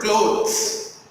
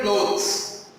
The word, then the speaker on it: clothes: thing with the word clothes. You see here, clothes. People are normally mistaken about clothes and cloths. You hear my pronunciation? Clothes and cloths. Clothes, cloths.